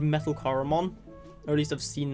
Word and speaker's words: Choromon: But for now, I'm going to go on the assumption that it is pronounced like Choromon, like chlorine, Choromon kind of thing.